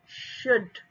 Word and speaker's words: should: receipt, plumber, ब का pronunciation नहीं होगा, should, ल का प्रोनाउंसिएशन नहीं होगा, pan, पा, mat, met,